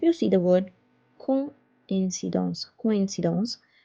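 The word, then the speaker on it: coïncidence: If you see the word coincidence, coincidence, if we do not put this accent, it will be pronounced as coin, coin, because O and I pronounce together as oua, oua, like moi, toi.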